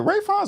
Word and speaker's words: Ralph: and Lawrence Ray rafin is it rayin or rinay it's spelled like Ralph but it's Ray okay ray finds and